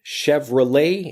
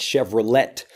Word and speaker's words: Chevrolet: one is Chevrolet Chevrolet Chevrolet and not chevre let Chevrolet so it's that French sound Chevrolet at the end Chevrolet and this becomes shortened